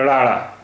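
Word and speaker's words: ੜ: का 35 वा अक्षर राड़ रा इसका उच्चारण हिंदी के ड़ जैसा है आइए इससे बनने वाले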